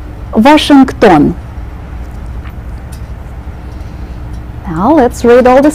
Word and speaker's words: Washington: Shang ban version ten in the middle of this word will pronounce the K sound washing done Washington now let's read all